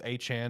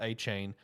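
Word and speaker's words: Achane: It's Achan, not Achain. Uh he wanted everyone to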